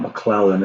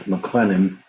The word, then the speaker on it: McLennan: I keep saying McClellan, and it's not McClellan, it's McLennan.